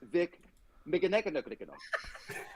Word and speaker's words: Mignogna: So it's let's welcome Vic Mignogna.